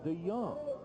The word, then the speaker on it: DeJong: He spells his last name, capital D-E, capital J-O-N-G, but it is pronounced Gordon DeJong.